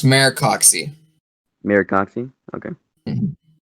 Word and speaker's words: Maricoxi: It's pronounced Maricoxi. Maricoxi? Okay. Mm-hmm. Maricoxi.